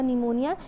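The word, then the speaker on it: pneumonia: फिर यहाँ पे पेशेंट से जगह निमोनिया, जिसमें P साइलेंट होता है, फिर उसके बाद मिलेंगे यहाँ पे ल से मिलेंगे, लेंगे से लेप्रोसी।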